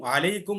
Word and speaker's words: আলাইকুম: এরপরে দেখো, সালামটা আমরা কিভাবে দিব, আসসালামু আলাইকুম ওয়া রাহমাতুল্লাহ। আসসালামু এর পেশের, মিমের পেশটা আমরা সঠিকভাবে উচ্চারণ করব আসসালামু, পরে আলাইকুম, আইনের আইনটাও সঠিকভাবে উচ্চারণ করব আসসালামু আলাইকুম ওয়া রাহমাতুল্লাহ।